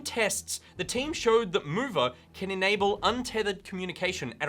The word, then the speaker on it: MoVR: Presumably pronounced mover because geeks can be clever.